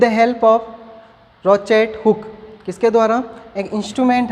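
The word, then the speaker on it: crochet hook: किसके हेल्प से करवाते हैं, रोचेट हुक, यानी यहाँ पे C है वो क्या है, साइलेंट होता है, रोचेट हुक बोलते हैं।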